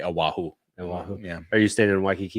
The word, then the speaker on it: Oahu: I am for spring break going to the beautiful island of Oahu. That's not how they say it. They say Oahu.